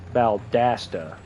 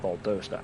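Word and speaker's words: Valdosta: Valdasta, not Balda.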